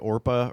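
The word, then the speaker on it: Orpah: you like G um people couldn't say orpa or spell it so it just like got changed to or people were like no your name's Oprah now I don't know how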